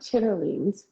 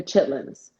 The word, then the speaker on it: chitterlings: greens or what are chitterlings and then you say no they're not chitterlings they're chitlins no it's spelled shearlings